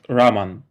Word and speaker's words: Raman: Basically, what happened in Belarusian language, my name is pronounced Raman.